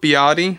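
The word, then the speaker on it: Beattie: it is true that stuart biatti or stuart beatty actually is how you pronounce it i believe actually had a very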